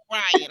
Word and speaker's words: Orion: And to be honest, I'm just really tired of seeing both of them, especially O'Lion. Yes. Not O'Lion. I mean Orion. I'm mispronouncing this man's name wrong. Not O'Lion. Orion.